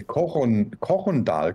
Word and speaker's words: Korondal: Nee, Korondal. Koron und dann Dal.